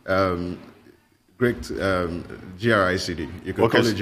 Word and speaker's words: GRICD: so it's pronounced as great um great um gricd you can college i said yeah great okay the dc is silent right okay very quickly